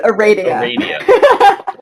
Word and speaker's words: Aradia: to say my name it's just like Arabian Nights Arabia all right we're actually